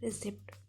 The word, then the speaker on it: receipt: अगर पी के बाद एस या एन आता है तो ये नहीं बोला जाएगा. For example psychology, pneumonia, receipt.